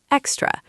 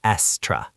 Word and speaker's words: extra: The pronunciation is extra. The stress is on the first syllable, extra. Right. And the X makes a KS sound. Extra, not estra.